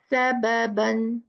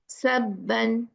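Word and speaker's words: سببا: The right pronunciation is what? Sababan, sababan. But how it's pronounced wrong? Sabban, sabban. One ba is ghaib. No, we have to pronounce both the ba.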